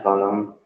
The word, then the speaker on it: coulomb: Kemudian satuan muatan dinyatakan dengan kolom. Tulisannya coulomb. Peraturan B coulomb atau dibacanya kolom.